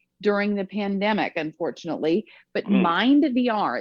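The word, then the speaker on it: MyndVR: But Mind VR, it's spelled MYND VR, it uses a headset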